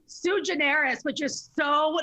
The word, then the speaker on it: Suigeneris: it's too generous yeah everyone messes it up they call me sega genesis sue generis and they just like space it out it's just so generous it's just like sue generous i think it's pronounced correctly